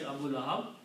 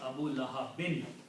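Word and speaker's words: Abū Lahab: So Abu Lahab is the full word. If you stop, you say Abu Lahab. If you continue reading, it's Abu Lahabin.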